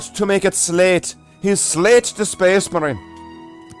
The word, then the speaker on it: Slathe: But I will always call him Slathe, never actually pronouncing the T and the H together. Always making it a hard, consonantal T. You've got to make it Slathe. He's Slathe the Space Marine.